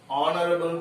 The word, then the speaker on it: honorable: So in the same way, here H is silent. So here the sound starts like this, honorable person.